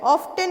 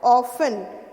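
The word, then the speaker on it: often: उसके बाद ऑफन, ऑफ्टन नहीं होता है, क्या होता है, ऑफन. तो इसमें टी जो है वो साइलेंट होता है.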